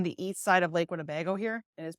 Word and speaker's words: Winnebago: But just note that especially on the east side of Lake Winnebago here, it is pronounced Winnebago, you'll see a lot of wind farms popping up.